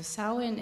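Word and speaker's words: Samhain: and the Celtic tradition is called Sinn which is spelled s m ha a i n so sawin is a time when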